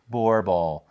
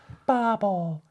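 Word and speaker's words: bauble: looked it up, and there are two pronunciations. There is, of course, the European way, which is Borble. And I even pushed a little audio button on my computer, and it comes out, and the female voice says, Borble. Borble. I'm like, okay, that's cool. Okay, now let's go to the American pronunciation.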